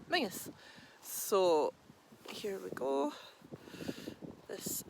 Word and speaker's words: Menzies: If you see it written down, it looks like Menzies, but when we pronounce it in Scottish, it's Menzies.